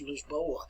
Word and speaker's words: Lisboa: lisbon is a town if we want to pronounce it in portuguese it's lisboa this board and the